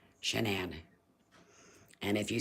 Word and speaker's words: Shanann: up with my daughter's name so it's it's pronounced shanan but it's s h n a an n shanan and if you said it wrong she'd correct